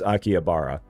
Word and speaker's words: Akihabara: Yeah, the name of the city is Akiabara. I may have the the emphasis on the wrong syllable, but that is pronounced Akiabara.